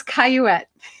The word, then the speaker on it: Cayouette: It's a very American way of it's sounded out the way it's spelled.